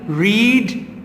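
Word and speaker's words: read: Number 17 रीड, रेड, रेड। इसकी pronunciation different होती है बट स्पेलिंग सेम रहती है, ठीक है।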